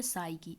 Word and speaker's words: psyche: एक तो हुई है साइकी, इसे कहते हैं साइकी। इंग्लिश में इसका जो स्पेलिंग है वो होता है PSYCHE, ये याद रखना है।